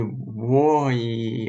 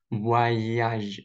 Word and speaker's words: voyage: OI, OY. Всегда читается как ва. Ва. Ва. Даже о y перед гласной. Перед гласной. Чтобы удобно читать было. Не вои, а не важ, а вояж.